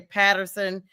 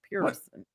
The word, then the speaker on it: Pearson: But my name, people always mess up my last name. They'll say Patterson, Peterson. They'll miss. I'm like, listen, just please pronounce what's there. Pearson? Pronounce what's there. Pearson.